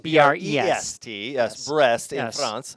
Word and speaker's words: Brest: Brest. I was really, yes, in France. It's pronounced B-R-E, spelled B-R-E-S-T.